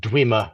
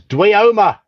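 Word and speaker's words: dweomer: And I can guarantee that none of us here pronounced it Dwimmer when they first saw it. This first one I'm seeing it now. Before I saw it, so I did. So I'd heard the word pronounced before I saw it. See, I hadn't. It was Dwioma.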